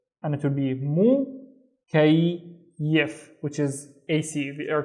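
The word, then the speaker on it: مكيف: So, mukayyif. Now again, notice, we have the ya here doubled, once with the second syllable and once with the third syllable.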